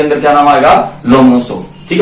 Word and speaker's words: Lomonosov: ये हमारी रिज है, जिसका नाम क्या है, लोमोनोसो, स्पेलिंग क्या है, LOMONOSOV, ओ पढ़े हैं भाई, ठीक बात है। लोमोनोसो रिज कौन सी है भाई, अगर आपसे कहा